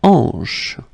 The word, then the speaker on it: hanche: La hanche. La hanche. Remember, H here is not pronounced, so you get the sound en, hanche at the beginning.